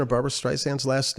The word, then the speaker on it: Streisand: the pronunciation of barbra streisand's last name yeah it is barbra streisand and she makes that clear it's not barbra streisand like a lot of people say and actually just a